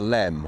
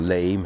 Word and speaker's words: Leam: i've come to the middle reaches of the river lem or lime however you want to pronounce it near lemington today um